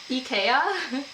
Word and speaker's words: IKEA: It all started because of because we were talking about how to say IKEA in Swedish, which is IKEA. Something to that effect. I know I'm not doing the vowels long enough.